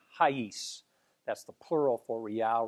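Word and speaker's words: reais: it's rice r-e-i-a-s but they pronounce it in an unusual way that i have trouble pronouncing to me it sounds like haise that's the plural for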